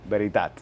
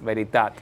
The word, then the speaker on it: Veritat: Veritat. Veritat. Es verdad. En catalán.